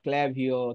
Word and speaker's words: Klaviyo: tools হচ্ছে ক্লাভিও বা কিলাভিও অনেকে এটাকে উচ্চারণ না করতে পারলে কিলাভিও বলে এটা উচ্চারণ আসলে ক্লাভিও হ্যাঁ এরকম টাইপের হয়